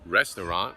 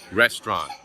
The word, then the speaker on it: restaurant: another example is restaurant we don't say restaurant we say restaurant so put them in